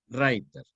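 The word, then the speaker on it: Reiter: se llama Blow writer que se escribe raiter e suena en alemán a writer escrito riter o sea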